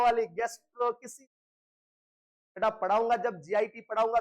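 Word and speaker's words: gastroschisis: गैस्ट्रोसिस ये अलग ही टर्मिनोलॉजी है बेटा, ये होता है गैस्ट्रो किसी की, इसमें चिची नहीं होता है, गैस्ट्रो किसी होता है।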